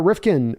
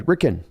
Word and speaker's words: Ricken: not close uh Rifkin or sorry ricken sorry mispronounced your name on that one uh says Gino is